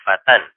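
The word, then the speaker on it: فتًى: Misalnya di sini al-fata, kita buang alifnya menjadi fatan, bacanya fatan. Ya, alifnya tetap ditulis, cuman harokat fathatain diberikan pada huruf sebelum alif, fatan.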